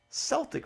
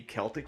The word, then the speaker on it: Celtic: But I've heard people pronounce it Celtic Frost, like the Boston Celtics.